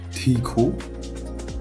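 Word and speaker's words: ठीक: TH, c'est pas un son qui existe en français, ça se prononce te. Et le E, les deux E qu'il y a ici, c'est un I prononcé d'une manière longue. Donc ça va être Tiko.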